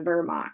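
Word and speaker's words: Wehrmacht: mocked Vermont that's the the German military the Vermont soldiers in case you ever hear that in German that dub use are pronounced with the V the Vermont so Adolf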